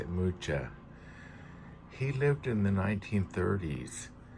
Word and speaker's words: Mucha: I believe that's how you say it, Mucha.